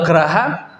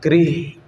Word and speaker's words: grha: yang benar GR ha dan bacanya bukan graha itu kesalahan baca ketika melihat hurufnya seperti itu dia tetap bacanya ghiah Ya dari bahasa Jawa Kawi ya dia dibacanya grih yah ya ghah Nah sehingga ya